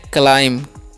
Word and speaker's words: climb: और CLIMB है, तो इसे हम पढ़ते हैं क्लाइम।